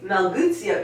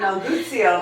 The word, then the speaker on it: Melguizo: It's almost like geese.